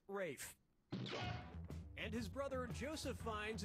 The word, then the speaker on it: Ralph: one yep ray fein's first name is spelled like ralph but pronounced rafe and his brother joseph